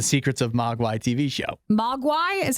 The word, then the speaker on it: Mogwai: Mogwai is how you say it.